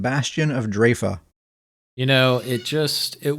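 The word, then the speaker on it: Draoi: my pronunciation on that it is draa is how it's pronounced so that said it's called Bastion of draa you know it just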